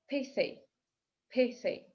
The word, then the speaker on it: pithy: Pithy, pithy, содержательный. Обратите внимание на межзубный звук th. Pithy.